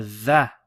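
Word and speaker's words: ظ: You have a dha. Okay, so this is the first time we've seen this letter. Dha, if you remember, is like the lisp, trying to pronounce Z with the lisp.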